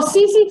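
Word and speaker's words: tsetse: वो CC fly होता है. T is silent. Okay, CC fly.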